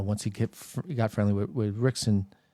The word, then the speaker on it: Rickson: It was Rickson's Gracie's book.